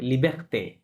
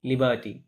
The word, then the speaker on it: liberté: লাস্টে অ্যাকসন আছে, তাহলে ওটা উচ্চারণ হবে লিবার্তে, লিবার্টি, লিবার্তে। So the guide is French.